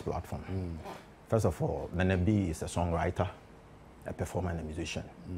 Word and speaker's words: Nenebi: How do you pronounce the name properly? Nenebi. Nenebi.